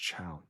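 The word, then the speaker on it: Thiaw: Malik Fell's name is pronounced Chow.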